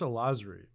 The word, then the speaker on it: Alazruei: It's Alazruei. Alazruei. Alaz, bro. Alazruei. Alazruei. There's a lot of silent letters in there.